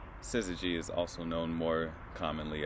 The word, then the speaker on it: syzygy: word all right time's up the word is pronounced syzygy syzygy is also known more commonly as a conjunction